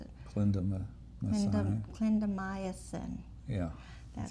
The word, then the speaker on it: clindamycin: Twice a day for oral, and this is clemidocine. I'm not saying it right. I do know how to say it, but sometimes I can't Sounds right. pronounce it. Clindamycin.